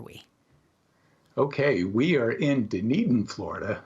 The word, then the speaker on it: Dunedin: okay we are in dunedin florida it's a it's a scottish name so it's not pronounced at all like it looks but dunedin is located on the